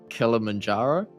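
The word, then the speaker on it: Kilimanjaro: went and hiked I'm going to butcher this pronunciation but Mount kilamanjaro is that yeah is that is that correct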